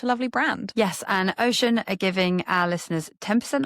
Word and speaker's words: Oshun: Thank you so much again to Ocean for sponsoring this entire series of the podcast. We are very grateful and also thrilled to be spreading the word about such a lovely brand. Yes, and Ocean are giving our listeners 10% off with the